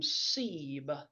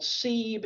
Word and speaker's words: Seaburn: they were saying, yeah, what I remember is they always called him Sebe.